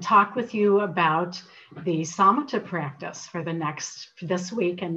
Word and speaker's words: Samatha: Not required, you can do whatever you want, but this is a wonderful ancient practice, and it's spelled S-A-M-A-T-H-A, pronounced Samatha. And the word Samatha is a Pali word, which was the language that the Buddhist teachings were recorded in.